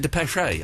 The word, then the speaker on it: Depeche: Now, Eloise, before we play the Depeche Mode, there is an accent over the second E, so you do say the third E, so you do pronounce it Depeche, I believe.